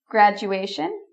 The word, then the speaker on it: graduation: So the main thing is to get the pronunciation. Graduation, graduation.